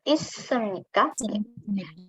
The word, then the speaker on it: 있습니까: Jadi ketika siot ketemu sama siot, maka sama dibaca siot keduanya ya. Oke. Jadi 있습니까? Oke. 어디에 있습니까? Kira-kira artinya apa ya, Rabun? Di mana? 어디에 di mana? 있습니까?